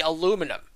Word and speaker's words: aluminum: For instance, in American English, we say aluminum. Okay? Continental English adds a syllable and makes it into aluminium.